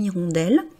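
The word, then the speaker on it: hirondelle: Avec le mot irondel, on est clairement dans le cas d'un mot où le H est muet où on peut faire l'ision. Donc on dira une irondelle si on prend un article indéfini.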